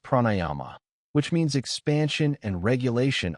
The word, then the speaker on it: pranayama: Yogic breathing practices are called pranayama pronounced pranayyama which means expansion and regulation of life energy through breath.